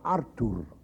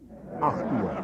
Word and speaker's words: Artur: spelled without an H, because in Polish my name is Artur. In Russian it is Artur. In German it's Artur. It sounds like 8 o'clock. Artur.